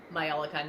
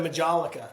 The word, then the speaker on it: majolica: It's like MAI Myolica, not the MAJ version. oh, okay. So that's the correct way to say it instead of Majolica, right?